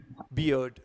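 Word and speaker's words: beard: बियर्ड बियर्ड बियर्ड बियर्ड बियर्ड हमें ड तक जाना है बियर्ड और डी ई ई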